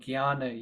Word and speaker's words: Jnana: topic of what's called Jnana Yoga. So if you'll see the Sanskrit, it says J and the Nye. So when you see J and Nye, it becomes G and Y phonetically.